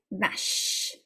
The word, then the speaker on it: vache: The CH is pronounced like a sh, like the SH in English, yeah? Vache.